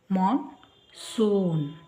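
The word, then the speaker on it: monsoon: ಎ ಉಚ್ಚಾರ ಸೆಷನ್ ಸೆಶನ್ ನಂತರ ನೋಡಿ ಇಲ್ಲಿ ಓ ಇದೆ ಮಾನ್ ಮಾನ್ ಸೂನ್ ಎಸ್ ಇಲ್ಲಿ ಡಬಲ್ ಓ ಇರೋದ್ರಿಂದ ಓ ಮಾನ್ಸೂನ್ ನಂತರ ಇಂ ಎಲ್ಲಿಗೆ ಅನಿಸಿಬಿಡೋದು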